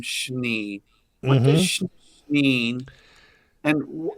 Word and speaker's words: Schnee: I believe that they pronounce it Schnee. We may be the only Schnees that pronounce it Schnee, and Schnee in German is snow.